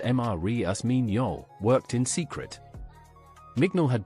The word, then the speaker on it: Marius Mignol: A researcher named Marius Mignol, pronounced Marius Mignol, worked in secret.